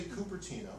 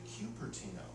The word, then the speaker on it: Cupertino: Californians do not use the liquid U. So we say Cupertino, we don't say Cupertino, the way they might in other parts of the country.